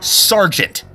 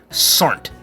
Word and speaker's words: sergeant: you s I'm too it's pronounced sergeant not Sant and you're not a